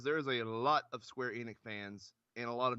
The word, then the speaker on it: Square Enix: So, excuse me for that, but Josh is here from Nerdvana, covering it with me again, and we're talking about the Square Enix.